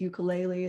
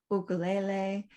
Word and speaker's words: ukulele: In fact, I should say that proper pronunciation, what I said is ukulele is ukulele.